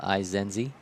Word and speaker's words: Izenzi: I had to ask Jesse pregame how you say his name, Izenzi.